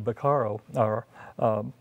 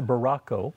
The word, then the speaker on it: Baracco: individual with us, Andrew Beccaro, I said his name wrong. I always try to use the French name. It's a Baracco.